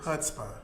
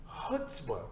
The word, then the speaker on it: chutzpah: chutzpah. Chutzpah. Yes, If you're going to say the Yiddish word, make sure that you say it correctly.